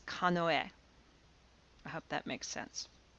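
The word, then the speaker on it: かのえ: to it and and pronounce it not using the onyomi but the kunyami i would refer to it as kanoe i hope that makes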